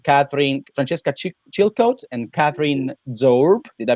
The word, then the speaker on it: Zoerb: you francesca and catherine francesca chilcote and catherine zorb did i pronounce very well your last name okay perfect